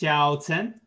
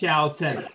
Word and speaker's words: Xiaochen: But it's pronounced Xiaochen. Yes. Xiaochen.